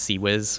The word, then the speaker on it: CIWS: is the Dutch goalkeeper ciws stands for close-in weapon system sometimes pronounced C Wiz which sounds really funny to me but if you know